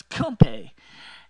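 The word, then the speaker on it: kompe: food called come / never to pronounce correctly as a kid it's actually knows come pay okay um PE that's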